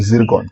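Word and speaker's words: Zircon: वाली बात है दोस्तों, लेकिन इसे पढ़ते हैं जिरकॉन। ठीक है, जिरकॉन इसलिए मैंने आपको एक ब्रैकेट में मेंशन कर रखा है ताकि आप इसका सही तरीके से प्रोनाउंसिएशन कर पाए।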